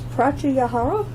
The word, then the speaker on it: pratyahara: Guided awareness in child's pose, pratyahara.